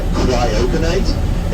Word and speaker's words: cryoconite: material kurioca night now the easiest way I am able to remember the rude cryoconite is because it rhymes with the word Kryptonite Kryptonite is the material